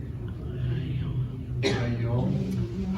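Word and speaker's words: היום: Hayom.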